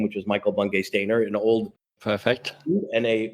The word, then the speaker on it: Michael Bungay Stanier: Today, my guest is MBS, but I can pronounce it, or I properly pronounced his name, which is Michael Bungay Stanier, an old Perfect.